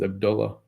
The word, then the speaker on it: Abdullah: Yeah, his name isn't Abdullah. That's not how you say his name. His name is Abdullah. Because there's an H at the end. Abdullah has the A.